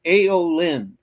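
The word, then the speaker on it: Aelyn: It's aolin which is spelled AE L YN.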